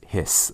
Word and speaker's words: bundle of His: And even though it's spelled H-I-S, you don't say his, it's hiss, almost like what a snake does.